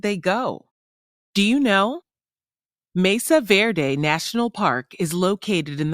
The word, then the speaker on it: Mesa Verde: carved in stone wordwise Mesa Verde is pronounced Mesa Verde Mesa which is Spanish for table also refers to raised flat topped land Verde is Spanish for green paleoamericans to understand the